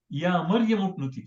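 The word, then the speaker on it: يا مريم اقنتي: But here before that is Ya Maryam uknuti, so that alif, that Hamza becomes silent.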